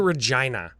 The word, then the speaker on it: Regina: roofs I was gonna say the land of rhymes with fun that's a Deadpool joke oh yeah that's right we went to Regina yeah you know it's called Regina read John